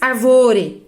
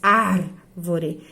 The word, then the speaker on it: árvore: Você não diz arvore, nem arvoré. Você diz árvore.